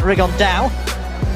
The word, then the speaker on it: Rigondeaux: That's coming up in about 3 weeks, and Tete's talked about fighting Rigondeaux, or as he's correctly pronounced with the Spanish accent, Rigondeaux.